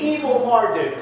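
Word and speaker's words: Evil-Merodach: It's a mouth here, but it's evil. That's the way you pronounce it and the way it's translated. It's evil Marduk.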